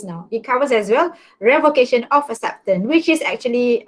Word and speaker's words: revocation: of the first part revocation came from the word revoked but when it comes now then it is pronounced as a revocation so revocation of acceptance